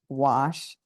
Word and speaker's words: gouache: So it's spelled Gouche, gouache, it's pronounced.